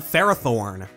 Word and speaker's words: Ferrothorn: So it makes sense to say its name the same way you'd say ferrous, with the stress on the first syllable, because it clearly has a ton of metallic design elements. Pokemon pronunciations don't always come directly from their name origin, of course, but it makes perfect sense why fans generally landed on Ferrothorn.